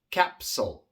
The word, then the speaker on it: capsule: Igual tenemos una P, una consonante sorda y por eso la S que le sigue viene siendo sorda. Capsule.